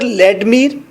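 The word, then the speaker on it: Vladimir: एस्ट्रागॉन, inter लेडमीर, लेडमीर, लेडमीर, वी को silent करेंगे, we silent, लेडमीर, लेडमीर, लेडमीर second character है।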